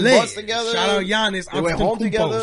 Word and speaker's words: Giannis: I say Giannis. The G is silent. Like lasagna, right?